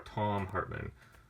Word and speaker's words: Thom Hartmann: almost done here this is donnell hartman or thom hartmann yes actually how you would pronounce his name this is a pretty cool